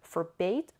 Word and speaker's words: forbade: ASEAN is ramming a forbade yamanami afore bad both are correct both pronunciations are correct okay for bait or for bad no difference number four her father